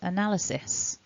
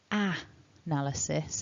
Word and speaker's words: analysis: after the first sound that first sound is a weak vowel so we don't say ah analysis it's an uh uh